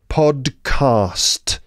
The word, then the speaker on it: podcast: terms of pronunciation podcast there are a couple of tricky consonant clusters in there right podcast right consonant clusters like the bit where the D the D and C combine D podcast right the D part